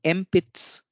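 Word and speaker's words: 鉛筆: लेकिन क्योंकि पी का जो एक्सेंट है, जो पिच है वो सु से ऊपर है, इसलिए ये डिवाइस नहीं होगा। तो एम्पित्स, एम्पित्स इसका उच्चारण होगा।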